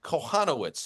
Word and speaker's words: Kochanowicz: in Polish, Lauren, and the proper pronunciation, at least in Polish-American dialect, would be Kochanowicz. If we were in Warsaw, it'd be Kochanowicz, but I think here locally we would say Kochanowicz.